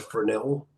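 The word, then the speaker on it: Fresnel: by jeene Austin Fel the S is silent it is a honey letter if you pronounce it you're not fren and you needed to know that a passive INF forid sensor uses a fernel lens just as the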